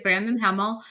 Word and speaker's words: Brandon Hemel: I'm Olga Woltman, and my guest today is Brandon Hemel. Did I pronounce it right?